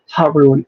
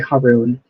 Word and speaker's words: Harun: Oh, my name pronounced is Harun. Oh, I'm sorry. Harun.